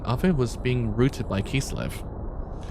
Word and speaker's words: Kislev: Kisurebu in Japanese. That's how you say Kislev. I was don't know whether not to go by the Japanese pronunciation for Kislev. Kisurebu, because it's a bit easy to pronounce.